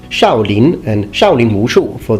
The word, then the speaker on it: Shaolin: have the Shaolin monk in Chinese is actually pronounced shouting and shouting Mu Shu for the martial art